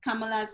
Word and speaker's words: Kamala: show and um and you pronounced kamala's name perfectly it's uh kamala equally emphasized each syllable and it means lotus